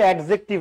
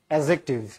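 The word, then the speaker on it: adjective: Parts of speech অ্যাডজেক্টিভ, উচ্চারণটা কিন্তু অ্যাডজেক্টিভ না, ডি বাদ দিয়ে উচ্চারণ করতে হয়, ঠিক আছে। অনেকে তো আমরা চেগায় ব্যাগে অ্যান্সার করি অ্যাডজেক্টিভ, ছোটবেলায় এমনি পড়তাম, বাট the correct pronunciation is অ্যাডজেক্টিভ, নাউনের সংখ্যা কিংবা পরিমাণ নির্দেশ করে, ঠিক আছে।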